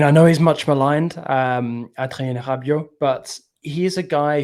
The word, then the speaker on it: Adrien Rabiot: Adrien Rabiot. You got to get the H sounding R. It's it's a very French thing.